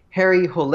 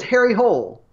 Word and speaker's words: Harry Hole: in the movie however it is technically a Norwegian name that should be Harry Hole a but because they